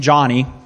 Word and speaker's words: Yoni: And after the course of a couple of years, this gentleman on the right, Yoni is his name, Johnny, but spelled with a Y, he felt led to start a church as well.